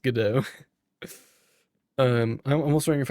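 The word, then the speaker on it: Godot: So, I'm almost wondering if I should learn God dot or goodo. Yeah, good. I'm pretty sure it's pronounced GDAU.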